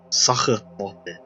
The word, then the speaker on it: Sachertorte: How is this pronounced? Sachertorte.